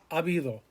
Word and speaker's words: habido: Remember, all of these, the H is silent. Hubo, había, habrá, haber, habido.